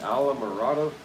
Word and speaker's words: Islamorada: Key Islamorada.